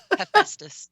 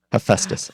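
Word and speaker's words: Hephaestus: how to say the the hammer guy's name hephestus hephestus okay thank you it's a hard one it's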